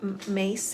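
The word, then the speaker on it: Myss: there's an archetype um Carolyn mace I think you say her name m-y-s-s she's done a whole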